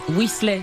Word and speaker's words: Weasley: Weasley, j'ai bien prononcé?